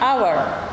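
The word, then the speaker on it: hour: यूज़ होता है, लेकिन H इसमें साइलेंट हो गया है और हम इसको H हवर ना बोलकर हम इनको बोलते हैं आवर।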